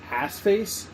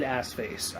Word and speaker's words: Arseface: His name is I'm sure his name is Assface, but Cassidy gives him that name.